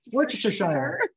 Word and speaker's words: Worcestershire: If you like really say it the way you're supposed to, like Worcestershire.